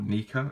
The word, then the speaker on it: NECA: Kenner matéo Diamond Select NECA or Nika as some people tend to pronounce it Funko have even got